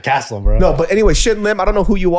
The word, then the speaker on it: Shin Lim: magic that i have yeah shout out to lynn shim yeah yeah what what shin lim oh shin lim that's what i said he